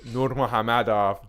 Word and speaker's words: Nurmagomedov: dana white has another meeting planned with habib nurmagomedov don't at me that's how you pronounce it um says he is still the